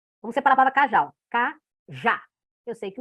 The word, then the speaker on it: cajá: Cajá. Eu sei que o já é a sílaba tônica. Eu sei que a última sílaba é a tônica, é mais forte. Então, eu já tenho um oxítona aí.